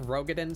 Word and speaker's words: Rogaden: I think Rogaden sounds a bit goofy. I think it sounds better to put the emphasis on the first syllable, Rogaden.